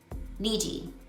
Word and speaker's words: Niji: I know the accent is on the first I. Niji.